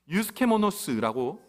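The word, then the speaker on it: εὐσχημόνως: 유스케모노스라고 발음합니다. 유스케모노스.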